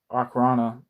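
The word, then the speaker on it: Okhrana: was a secret detachment i haven't pronouncing that right okarana o k h r a n a it was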